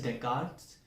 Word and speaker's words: Descartes: Yes, it is Descartes. It is spelled as Descartes.